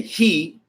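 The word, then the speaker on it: היא: So you were pronounced when you say he. It's funny because in English the word is she. So in Ivryt, when you say he, you're really saying she.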